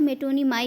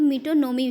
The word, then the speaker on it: metonymy: बताना चाहते हैं कि ये जो वर्ड है इसको बहुत लोग मेटोनिमाई भी बोलते हैं, बहुत लोग मीटोनोमी भी बोलते हैं, लेकिन इसका सही प्रोनाउंसिएशन जो है उसका है मीटोनोमी, मीन्स मीटोनोमी।